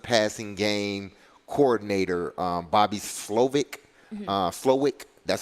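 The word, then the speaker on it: Slowik: time their offensive passing game coordinator um Bobby slovick that's how you pronounce his name so he's bringing in a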